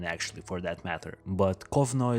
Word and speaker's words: Kovno: for that matter but kovnoy is how they would pronounce the lithuanian city of konas and so the rabbi